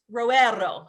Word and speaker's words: Roero: before we get started let's start with pronunciation it's roerro ladies so faces the